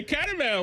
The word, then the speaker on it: caramel: I don't I'm eating my caramel while watching the cords. Caramel. Car. It's caramel. Caramel. All right. Caramel. I've I've gone more syllables to it.